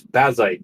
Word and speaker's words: Bazzite: Is it Bazite or Basite? I I always say Basite. I'm not actually sure on the correct pronunciation. Uh, hi everyone. Welcome to be here. Um, it is Basite, but you can call it any which way